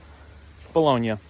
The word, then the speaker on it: Bologna: Bologna is how it would be pronounced, like in Italian.